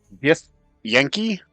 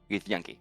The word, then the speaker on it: Githyanki: Gith Yankee? Git Yankee.